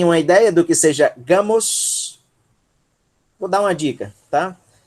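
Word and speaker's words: γάμος: E a sílaba tônica é essa daí. Então, um gama e um alfa, Gá. Gá. Ok? Depois nós temos um Mi, som de M, ômicron sigma, Mos. Gamos. Gamos.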